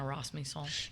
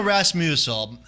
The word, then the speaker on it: Rasmussen: You know, You always say her name wrong. What do you mean I say her name wrong? You said Rossmusel. What is it? Rossmusel? Oh, come on. Come on. That's potato. There's not even a U in there.